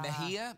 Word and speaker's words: Mexia: me was Mexia yeah Mejia Mejia Mejia but it looks like next yeah right yeah yeah